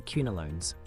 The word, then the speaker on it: quinolones: Let's discuss the kunolones. Queen rhymes with kunolones.